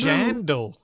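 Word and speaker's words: Jandle: Jandal. J-A-N-D-L-E. Like Vandal, but with a J.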